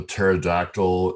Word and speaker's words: pterodactyl: Do you know why it is so difficult to determine if a pterodactyl is using your bathroom? Because the P is silent.